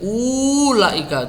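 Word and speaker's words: أُولَٰئِكَ: Nah, ini ada wawu kecil, ada wawu ditandai dengan bulatan kecil di atasnya, ini tidak dibaca. Jangan kebalik, jangan kok dibaca ini ulaika, tidak. Bacanya ulaika. Ulangi.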